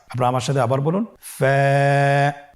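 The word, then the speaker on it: فاء: ফা হরফটি উচ্চারণের ক্ষেত্রে বারিক হবে এবং এক আলিফ টেনে পড়তে হবে। আপনারা আমার সাথে আবার বলুন। ফা।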